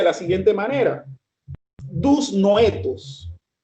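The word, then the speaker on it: δυσνόητα: En el manuscrito del griego, mis estimados hermanos, está escrito con una palabra que se pronuncia de la siguiente manera: dus noetos, y que significa estrictamente dificultad de percepción.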